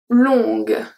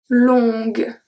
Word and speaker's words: longue: Longue. Longue. So here, because we have the U and the E that we don't pronounce, the only letter that I pronounce is G.